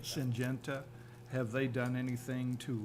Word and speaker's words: Syngenta: Has Syngenta, how do you pronounce that? Syngenta. Syngenta, have they done anything to remedy the initial issue?